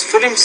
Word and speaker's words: film: Second of all, I love to watch films because films are easy to understand than reading a book. It almost sounds like you're making film is. You're almost making it two syllables, but the word is film.